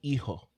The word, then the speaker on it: hijo: The H is silent in hijo.